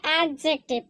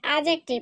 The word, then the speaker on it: adjective: এটা অনেকে উচ্চারণ করে এডজেক্টিভ কিন্তু এটার সঠিক উচ্চারণ হচ্ছে এডজেক্টিভ এখানে ডি কিন্তু সাইলেন্ট হয়ে যাবে প্রথমেই তোমাদেরকে উচ্চারণটা বলে